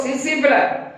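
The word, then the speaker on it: tsetse: सिसिफिला पढ़ो, T silent, या पढ़ो सिसिफिला।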